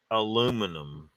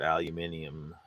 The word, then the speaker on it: aluminium: Although Americans call aluminum aluminum as if they're mentally defects. defective and unable to pronounce the word aluminium. They even leave the I out.